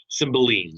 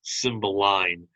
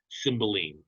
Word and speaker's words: Cymbeline: symbolize by william shakespeare cymbeline sorry i i i grew a costume to pronounce it symbol line because i'm very familiar with the pink floyd song if you haven't heard